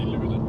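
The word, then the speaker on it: Luleå: Lulio. I'm from Canada. I don't I don't know the language very well. Most people don't say the O in the end. We just say Lula.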